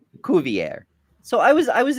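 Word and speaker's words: Cuvier: Um, it the naturalist's name was pronounced Kuier, not quiver. Kovier.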